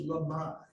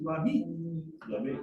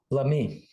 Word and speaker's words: Lamy: said, no, it was Lamar. No, c'est là. And you said today, Lamy. So from now on, what should I, Lamy. Merci. and what? Why? Because that is how you say it in French.